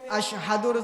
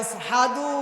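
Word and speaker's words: أشهد: আশহাদুর জায়গায় আসহাদু উচ্চারণ করে ফেলতেন।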